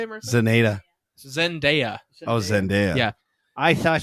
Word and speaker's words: Zendaya: Yes, I don't know her name, but Zenaida. What? How do you say it, Marissa? Zenaida. Zendaya.